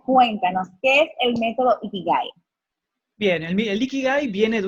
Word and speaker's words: Ikigai: Con él estaremos hablando en el día de hoy sobre el método Ikigai. ¿Lo dije bien? ¿Lo pronuncié bien?